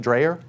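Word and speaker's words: Dreher: rod rodriguez dreyer how do you say it dreyer okay yeah but i mean you have these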